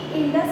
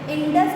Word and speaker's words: Indos: ठीक है, ध्यान दीजिए, जो ग्रीक थे यानी ग्रीक के रहने वाले थे वो इस इंडस नदी को क्या कहते थे, इंडोस कहते थे। INDOS, इंडोस कहते थे।